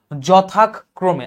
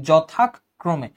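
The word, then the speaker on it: যথাক্রমে: চলে আসে এটা বলবা যথাক ক্রমে আচ্ছা যখন তোমার এই যে তুমি যুক্তাক্ষরে থামতেছো তখন তোমার কিন্তু যুক্তাক্ষরে থামার আগের অংশটা বলতে হবে যথাক ক্রমে যেহেতু এটা য তো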